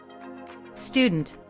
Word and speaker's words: student: B is slightly different student no vowel sound at the very beginning of the word schah on the weak